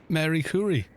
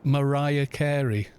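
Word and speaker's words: Marie Curie: what was it yeah i'm related to uh mary curry and he goes no no no it's pronounced mariah carey now if he wasn't being ironic then he's always he's been a complete bollock you know it's pronounced mariah carey no it really isn't it's safe to cross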